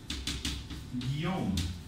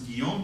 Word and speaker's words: Guillaume: The French is Guillaume. So pronounce the G as a wa, and you have G becomes Guillaume, becomes Guillaume, which eventually sort of becomes, I guess, William.